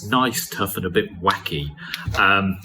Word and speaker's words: wacke: So it's an interactive quiz, and it's gneiss, tuff and a bit wacke. It's usually pronounced wack, but a gneiss, a tuff and a wacke are all different types of rock.